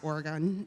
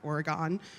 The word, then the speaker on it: Oregon: of Portland, Oregon, which, by the way, is pronounced Oregon, not Oregon.